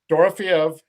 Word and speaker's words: Dorofeyev: And I am bad at pronunciations, but this Dorofeyev guy, Dorofeev. Dorofeyev, Yep.